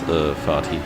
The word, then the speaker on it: Vati: If you pronounce it the German way, it's Fati, which might stand for Vater, which is father in English.